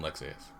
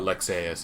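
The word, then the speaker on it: Lexaeus: you should remember but lexas is the same way there's like an a and a u and you have to pronounce both of them they don't like mesh into one because it's not an english name the king where's the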